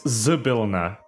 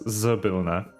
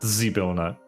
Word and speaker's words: Zybilna: It's Zybilna. with S. No, Y. it's Zybilna, not Zybilna. Is how it's supposed to be pronounced, with stress on the second syllable.